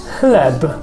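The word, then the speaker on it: chleb: read as h so ch and h is the same uh in pronunciation what makes it a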